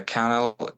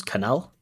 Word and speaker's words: canal: Yeah, there is a uh kind of a canel near my house. Oh, canel is fine. I understand it. But the correct pronunciation is canal.